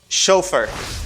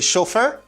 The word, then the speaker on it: chauffeur: chauffeur driver or chauffeur in english you say chauffeur and we will say